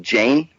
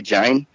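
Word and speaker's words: Jain: this group called The I think Jane if I pronounce it correctly Jin they're also from India uhhuh yeah but they were the spelled the j a i n yeah I haven't met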